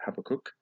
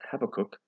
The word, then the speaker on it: Habakkuk: So I hope I'm pronouncing it right. That's how I pronounce it, Habakkuk.